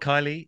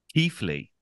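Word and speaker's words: Keighley: are common names so it's not Kylie it's actually Keithley oh why why is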